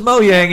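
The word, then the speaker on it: Mojang: of the reminders that I always miss pronounced moyang I I didn't know it was moyang until right now Bob Macky says is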